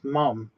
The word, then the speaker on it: mum: Why do Americans say mom? It's mum. M-U-M, not M-O-M. It sounds like you're saying it's a cow mum.